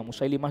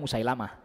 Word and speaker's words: Musailimah: Musailimah itu yang nabi palsu itu, Pak. Kita kenalnya Musailamah. Ya, kita kenalnya apa? Musailamah. Para ulama bacanya Musailimah.